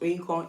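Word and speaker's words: Oyinkan: Oinkon is literally 3 syllables. Oinkon, O-in-kon, kon, kon, kon. That's the part that they may find a bit difficult, but just pronounce it as K-O, kon, instead of K-A-N, really, and you'll be fine.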